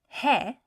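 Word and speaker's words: ہے: So hai, which means is spelled choti hai and badi ye. Just 2 letters. Choti hai and badi ye. Hai.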